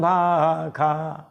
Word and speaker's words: भाषा: राखा पाई सुसम सिंहासन भाखा स षटकोण वाला वेद में इसका उच्चारण ख जाता है इसीलिए तुलसीदास जी महाराज ने जहां भी ख के साथ संबंध जोड़ा स षट्कोण वाला लिख दिया।